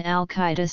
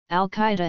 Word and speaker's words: al-Qaeda: definite article they hence the base Arabic al-qaeda has four syllables however since two of